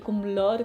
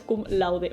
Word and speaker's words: cum laude: que a lo inglés así que puedes ir kum lord kum lord c lo que sea pero en realidad es kum laude vale Eso significa literalmente